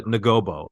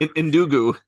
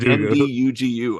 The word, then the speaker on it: Ndugu: as he's talking to Ngobo, I think the kid's name is, or something like that. Ndugu. Ndugu, right. It's even harder to pronounce. It's like Ndugu, I think.